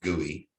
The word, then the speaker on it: GUI: so gui for graphical user interface is usually pronounced gui i think most people are familiar with that